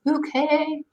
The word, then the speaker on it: Bucket: show about this woman who her last name is spelled Bucket, Bucket, but she insists that it's Bouquet.